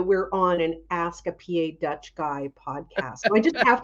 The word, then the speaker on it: PA Dutch: been saying PA Dutch is it PA Dutch or PA Deutch oh it's PA Dutch no because we're we are different we are we that's